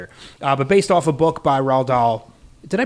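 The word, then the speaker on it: Roald Dahl: Uh but based off a book by Rald Doll. Did I pronounce that correctly? Rald Rald Doll.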